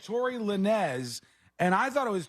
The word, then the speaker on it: Lanez: French influence in Canada there's no way you pronounce it Lanes it's at best lines probably how are you getting no it's oh no this yeah this is the phonetics thing it's l a n Easy you're right yeah but it's pronounced like this Tory Lanez I'm from the streets I know this kind of stuff in the